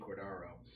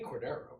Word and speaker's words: Cordaro: I intentionally pronounced my name wrong so people will spell it right. It's Cordero, but if I say Cordero, they'll spell it Cordero instead of Aro. It's the Italian version. The Spanish version is E. The Italian with an A.